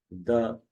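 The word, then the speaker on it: the: द या दी, द या दी, द book या दी बुक।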